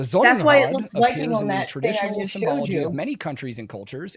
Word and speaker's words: symbology: In Nazi Germany, the Nazi Party, the SA, and the SS all used Sonnenrad symbology, pronounce that S as a Z there, symbology at times, which has led neo-Nazis and other modern white supremacists to adopt such images.